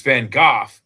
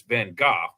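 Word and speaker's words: Van Gogh: It's it's Van Gooff that people get wrong. It's it's spelled G O G H but it's pronounced like cough except with a G. So it's Van Go but everyone calls him Van Go or Van Go.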